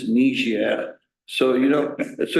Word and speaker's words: Niger: she corrected me uh I used to pronounce the name of a country totally wrong Niger and then she said D it's niia so you know so